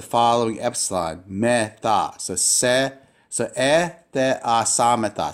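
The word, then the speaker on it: ἐθεασάμεθα: So te, a, samata.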